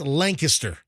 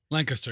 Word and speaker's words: Lancaster: You got to say it right. It's Lancaster. Lancaster, yeah. You don't say Lancaster, Pennsylvania. It's Lancaster. So up there you get